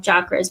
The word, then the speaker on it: chakra: And then those who believe in the chakras, people call them chakras, but it's pronounced chakras.